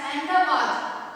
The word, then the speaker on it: Ahmedabad: Ahmedabad, pronounced as Ahmedabad, is situated on the banks of the river Sabarmati, and it is the biggest city in Gujarat.